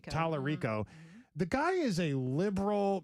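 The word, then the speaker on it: Talarico: For those that do not know who this gentleman is, this is, how do you pronounce his last name? Tallarico. Tallarico.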